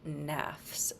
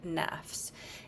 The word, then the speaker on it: nafs: talk a lot about the word nafs that some of you even mentioned it's spelled n fs and that's a singular word nafs it just happens to have an s on it so then we think that it's a plural thing it's not nafs so the nafs